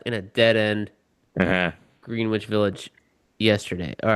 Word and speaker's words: Greenwich: Greenwich Village yesterday. All right. Yeah. Greenwich, by the way, Mister. I don't live in New York. Greenwich Village. Greenwich.